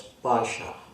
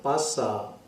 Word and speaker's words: paasha: only be there if we speak this world as Pasha this is not Pasa as the ragi Jas in singing waraki pronounce is not like that it should be Pasha it spoken as Pasha let us go to